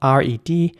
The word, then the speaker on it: red currant: Red currant is spelled R-E-D-C-U-R-R-A-N-T, and it's pronounced red currant. And again, you have to pronounce the C like a K. So it's red currant, not red currant or something, but red currant.